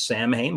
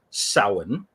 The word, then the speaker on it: Samhain: seen this word before, which people tend to pronounce as Samhain, which is reasonable considering the pronunciation, but no, it is actually pronounced as Samhain.